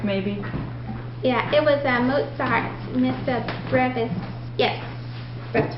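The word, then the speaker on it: Missa Brevis: It was Mozart's Mr. Brave, I think is what you said, or Mr. Brevis? Yeah, I looked up how to pronounce it online. Mr. Brave, maybe? Yeah, it was Mozart's Mr. Brevis.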